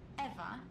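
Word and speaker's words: Ewa: Did you say your name was Eva? Yes, that's right. So you have the same name as that thing? Could you please not compare me to a lifeless machine? Besides, Eva is spelled E-W-A, not E-V-E.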